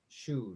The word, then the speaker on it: Choue: So for tonight, please help me in welcoming Her Excellency Genevieve Choue. Did I pronounce that right?